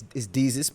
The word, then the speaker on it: Deuces: Deuces and Maro, right? It's Deezus, but all right.